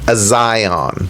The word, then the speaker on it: Azion: Azion.